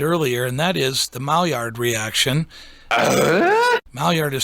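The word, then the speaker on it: Maillard: what i mentioned earlier and that is the mall yard reaction yard is spelled m-a-i-l-l-a-r-d what it is is it's a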